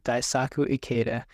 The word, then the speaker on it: Daisaku Ikeda: And they had a huge opposition with an SGI group specifically that was practicing, now I might pronounce this wrong, so I do apologize, Daisaku Ikeda. Oh, Daisaku Ikeda.